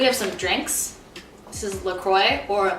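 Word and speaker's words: LaCroix: do you say it I say laqua that's how I say isn't that how it's supposed to be cuz it's like a French name it's a French name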